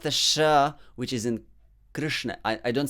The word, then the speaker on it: Krishna: that's more british way but if you say it in american way matter better that is exactly the sanskrit sound krishna so just imagine you are saying better matter but just say krishna so now third sound